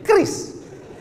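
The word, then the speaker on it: QRIS: Cara bacanya gimana sebetulnya? Kris. Q-nya quick. Quick artinya cepat. R-nya response Kris quick response.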